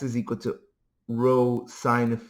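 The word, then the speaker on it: rho: Uh this is pronounced row.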